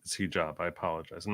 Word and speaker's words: Hijab: I keep calling him Hijab, but it's Hijab.